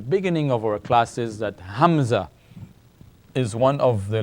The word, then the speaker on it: hamza: Short, like this, short, small, hamza. All right, the song, it's pronounced like this, hamza.